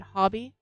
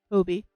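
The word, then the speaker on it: Hobbii: little complaints about acrylic um I find that hobby or Hobie uh depending on how you want to pronounce it um h o b b i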